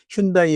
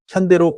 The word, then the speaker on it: 현대: 하지만 글로벌 시장 진출이 가속화되면서 영문 표기인 휴다이 혹은 헌데이로 통일되었죠. 그리고 최근 일본 시장에 전기차 중심의 무공해차 GEV 브랜드로 12년 만에 재진출하면서 현대차는 일본 내 법인명과 브랜드명을 한국어 원어 발음에 가장 가까운 현대로 공식화했습니다. 이는 단순히 이름을 자꾸 바꾸는